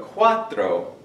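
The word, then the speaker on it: cuatro: important because later on some people are going to confuse quro quto okay quto does quto with an R does mean fourth but quatro is the number four and it is spelled like this then the other one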